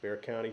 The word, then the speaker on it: Bexar County: accounting some of you guys but yeah it's pronounced Bexar County just uh right there in that San Antonio